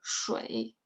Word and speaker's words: 水: 水 is a little hard to pronounce. It's the first part is same with 是, but then you 水, like 水 away 水, 冰水.